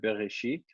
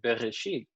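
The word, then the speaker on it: בראשית: problem with the word bereshit this alef is completely useless in there it's not necessary if you have the aleph in there or not it would be you pronounce it the same so there are people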